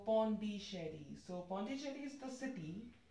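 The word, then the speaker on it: Pondichéry: come for this question if you pronounce it in the french manner it will be like pondi shari like ch show sound and then the exon so pawn d shady so ponticherry is the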